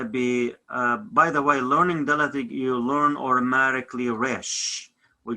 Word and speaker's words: ܕ: If I have a dot underneath it, so the sounds of TH is going to put dot here. That is for TH. Otherwise is a D. D. The sounds of Daleth is D.